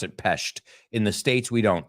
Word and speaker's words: Pest: They pronounce it Pest.